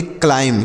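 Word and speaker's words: climb: यम से म होगा यह जो बी है यह साइलेंट है इसे नहीं पढ़ेंगे तो हम इसे पढ़ेंगे क्लाइम क्या पढ़ेंगे क्लाइम नहीं पढ़ना है यहां पर बी जो लिखा गया है यह बी यह साइलेंट है इसे नहीं पढ़ा जाता है तो क्लाइम पढ़ना है क्लाइम मतलब क्या होता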